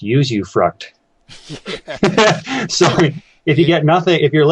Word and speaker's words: usufruct: I believe it's pronounced usufruct.